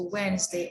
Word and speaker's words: Wednesday: and here we have silent d okay like badge handkerchief handsome okay hedge or headed like a wedge a wednesday or sandwich these are the silent